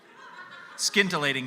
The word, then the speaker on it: scintillating: I don't think tintillating is a word. Scintillating, sorry. Titillating and scintillating. I don't think it's. I think the C is silent.